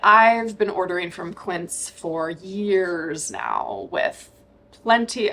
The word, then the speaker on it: Quince: in this video is from a brand called Quint and it's a brand that I've talked about